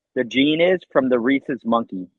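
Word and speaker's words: rhesus: s u s yeah Reese is like Reese's peanut butter cups is the way it's pronounced but it's spelled like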